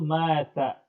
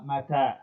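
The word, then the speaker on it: متى: La taqul mata, inama mata hakada. Berhati-hati dalam pengucapan mata. Jadi yang panjang itu taknya bukan maknya.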